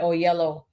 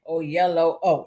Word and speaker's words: Oyelowo: the Denzels and the David Oyelowo. I think that's how he taught me to say his name. Oyelowo.